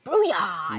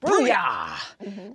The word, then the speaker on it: Brooyar: Brooyar! You got to say it like that. Brooyar!